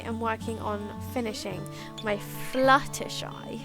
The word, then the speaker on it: Fluttershy: It's not flutter. It's Fluttershy.